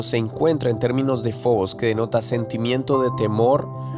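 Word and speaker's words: φόβος: En griego la palabra miedo que se pronuncia como fobos, está esta raíz griega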